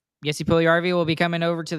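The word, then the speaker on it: Puljujärvi: I think Paul Juliarvi, is that how you say his name? Jesse Puljujarvi.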